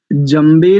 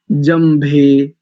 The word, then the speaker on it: जम्भे: कल भी हमने एक संकेत किया था, जम्बे नहीं, उच्चारण क्या करेंगे, जम्भे। जम्भे भा भा महाप्राण है।